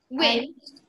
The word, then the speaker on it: Nguyen: Win. Hmm? That's pronounced win.